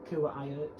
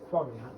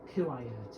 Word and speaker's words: Kuwait: I used to first pronounce it Kuwait. I was basically reading the letters. However, when NCHLT said Quarriat, that sounds like the most logical pronunciation, if I haven't just got rid of the tab.